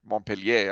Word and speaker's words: Montpelier: vermont drafted its constitution the capital is called montpelier montpellier i would say but they pronounce them on period which is a very